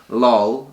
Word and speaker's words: lol: thing in pop culture lol rhymes with doll clearly they're going off